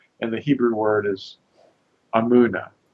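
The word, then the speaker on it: אמונה: Hebrew word is amuna a m u n a you know a lot of times it's spelled with an e imuna but the correct letter is now understood now more accurately is an A but uh how should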